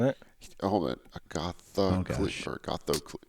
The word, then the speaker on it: Agathocles: How can you connect members of Agathocles, Agothercles? I believe it's Yeah. ATH, isn't it? Oh, hold on. gosh. Agathocles.